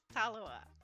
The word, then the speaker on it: Tallawah: goes so that is talawa and like I said you cannot say the name wrong you just say it how it looks and however you pronounce it it's going to come out the same and so two Proverbs